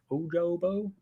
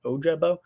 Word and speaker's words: Ojabo: from what i've heard ojabo is not oja hojobo ojabo every time i say